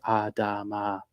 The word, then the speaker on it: Adama: Thanks to my friend who helped me learn how to say that phonetically. Adama. Thanks, Sam. Really appreciate that. It's like Kalama from, what's that, Indiana Jones.